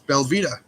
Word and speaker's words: belVita: is it spell it it's belvita just like Vita but with a b instead of a v b Vita bars I've